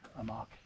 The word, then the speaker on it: Amok: This is the Amach extra-L large inflatable pad that goes with the Amach hammock.